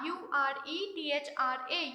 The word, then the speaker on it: urethra: urinary brother it comes out to the urethra u r e t h r a u ratra it is pronounced as urethra okay so these are the